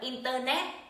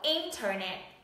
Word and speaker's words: Internet: Từ này không đọc là Internet, mà nó sẽ đọc là Internet.